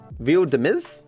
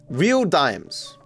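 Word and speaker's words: Real Dimez: Real Demise. Deise. Real Demise. Viral videos. Viral hooks. Bay Lux and Roxy aka Real Dez. Dimes. Real dimes. Sorry, I said it wrong before.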